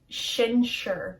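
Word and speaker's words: sinsear: ireland poi waj that word there is very different from how it's pronounced it looks very different from how it's pronounced shin shur it's not sincere it's shin shall shelter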